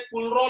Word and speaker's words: Kohlrausch: Basically लिखते तो इसको कोलराउच लॉ, लेकिन इसका जो प्रोनाउंसिएशन है वो है कूलरो लॉ, KOHLRAUSCH, कूलरो लॉ.